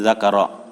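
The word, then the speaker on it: ذَكَرَ: Bukan zikri tapi zakara. Zakara tafasilaha.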